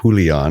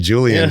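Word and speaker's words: Julián: well first of all I applaud your pronunciation as Julion because I was saying Julian coming in here but you're right that's that's a good Spanish pronunciation there yeah I we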